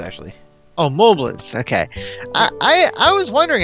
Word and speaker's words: Mobliz: Mobliz, actually. Oh, Mobliz. Okay. I was wondering how you pronounce that.